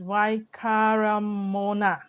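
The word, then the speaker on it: Waikaremoana: more picture the lake why how do we pronounce this why karen moana oh this is why kara mona karamona okay so earlier on there's also one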